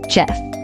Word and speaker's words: chef: This word is pronounced as chef and not chef. This word is pronounced as chalet and not chalet.